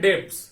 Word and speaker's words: debts: बार बार pronounce करेंगे, लेकिन बी यहां पे साइलेंट होता है। ठीक है, ये बैड डेट्स होता है।